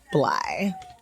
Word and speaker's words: Blythe: We've all said Blythe forever The with a THE TH. is silent, and it is just Blythe.